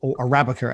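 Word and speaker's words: % Arabica: On percent Arabica or Arabica as it's actually pronounced, but written with the percentage Arabica.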